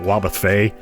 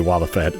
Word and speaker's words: Wobbuffet: blessing in disguise, because I kept pronouncing that Wobbuffet, and it's like, no, I actually looked it up a few hours ago, because I was curious. And yeah, I guess it's technically Wobbuffet, because, it's based on the word buffet